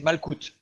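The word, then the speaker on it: מלכות: Le terme hébreu, c'est malkout. Malkout, qui s'écrit aussi ainsi, malkout, ou comme ceci, malkouya.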